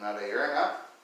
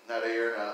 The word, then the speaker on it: Narayana: for years and years I pronounced Narayana, Narayana like Mariana, or something like that. And it's just funny, I worshipped Narayana for many, many years, with a very common white man mispronunciation of his name.